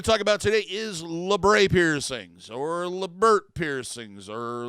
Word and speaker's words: labret: Now, the basis of this word, Labret, or Labret, or Laburt, or the new one I heard recently, what was it? Labret, like Bret, like British, Labret.